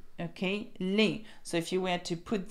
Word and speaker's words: les: So that is les and that is le. So I'm not sure why you think they're pronounced the same, but they're very different. So because ES is pronounced A, so we have les, okay, les and le, okay.